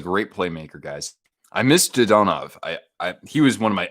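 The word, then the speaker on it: Dadonov: Even though it looks like Dadanov, apparently with Russian names, you most of the time you'll actually pronounce. You'll put the emphasis on the second syllable. So instead of Dadanov, it's Dodonov, or like Sorokin, for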